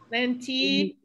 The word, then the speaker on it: lenticchie: Because we have the CHI again. We have the CHI again. Chie, and with an E, so we want to pronounce every vowel, right? Chie, lenticchie, lentils.